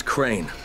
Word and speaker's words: Crane: store no my name's crane okay crane rhymes with train and brain and sane and grain and rain and plane and the other kind